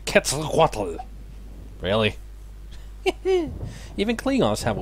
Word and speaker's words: Quetzalcoatl: And that is how you pronounce his name, Quetzalcoatl.